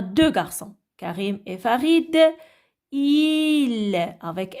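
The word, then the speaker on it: ils: Alors, parce qu'on a deux garçons, Karim et Farid, il, avec S et le S ne se prononce pas, elle est muet.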